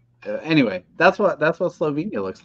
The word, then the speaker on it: Slovenia: if you're gonna make fun then at least pronounce the name of the country correctly it is Slovenia not yep um because it's a Hidden Gem